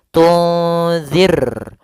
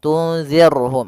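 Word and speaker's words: تُنذِرْهُم: dengan ra tarqiq, ra yang tipis dalam pelafalannya, jangan dibaca tunzir. Maaf, tunzirhum, tunzirhum. Ini tebal ra-nya. Harusnya tipis. Tunzir ar ya, kalau ar itu tebal, ir tipis. Tunzirhum.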